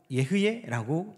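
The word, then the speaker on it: אהיה: 나는 스스로 있다 하는 이 히브리어가 예흐예라고 읽습니다. 예흐예.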